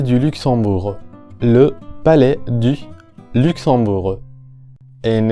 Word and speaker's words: Luxembourg: Luxembourg, de nuevo la vocal U en la primera sílaba, Luxon. Tenemos aquí a la vocal nasal on, que es como una O del español, considerablemente más abierta y obviamente nasalizada. Y en este caso la letra X representa a la combinación sorda X, como la X del español. Luxembourg. En la última sílaba la vocal U como la del español. Bourg.